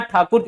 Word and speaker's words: ठाकुर: नाथ ठाकुर होते थे अंग्रेज लोग बच्चों ना ठाकुर नहीं बोल पाते थे वो टैगोर बोलते थे ठाकोर बोलते थे तो इसी वजह से क्या है प्रोनाउंस भी बच्चों क्या है ऐसा ही हो गया टैगोर हो गया और जो रविंद्रनाथ ठाकुर वो टैगोर जिनको हम बोलते हैं वो वास्तव में टैगोर नहीं है वो ठाकुर थे रविंद्रनाथ ठाकुर उनका